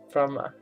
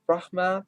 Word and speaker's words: Brahma: She's here to worship Praprom, the Thai version of the 4-faced Hindu god Brahma, the H 不发音。Brahma, the god of creation, is one of Hinduism's most important gods.